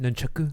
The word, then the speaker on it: nunchaku: I think it's pronounced nunchaku.